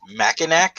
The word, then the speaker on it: Mackinac: Or Mackinac?